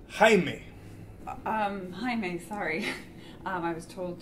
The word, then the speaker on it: Jaime: Jamie? It's pronounced Jaime.